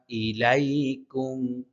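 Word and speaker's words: إليكم: ইয়া লামু ইন্না ইলাইকুম ইন এখানে গুন্না আছে না তিন আলিফ টেনে পড়তে হবে ইলাই এখানে হামজার উচ্চারণ স্পষ্ট করতে হবে ইলাইকুম ইন্না ইলাইকুম ইন্না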